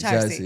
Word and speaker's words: Charsi: Is his name Chorsi? Charsi? Charsi. That's how you say it? Charsi.